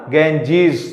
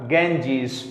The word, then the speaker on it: Ganges: तो इसलिए प्रोनाउंसिएशन हमारा क्या होगा, गेंजीज। The English pronunciation of गंगा इज अ गेंजीज।